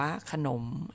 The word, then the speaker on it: ขนม: เนาะ ขอ ซื้อ ขนม เขียน ขนม อ่าน ว่า ขนม อ่ะ คำ ใน เป็น